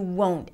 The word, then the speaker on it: won't: The won't is a long O as in go. You won't. And even though we don't hear the T very clearly, it is there.